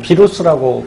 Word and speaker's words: 바이러스: 뭐 비루스라고 발음하기도 하고요.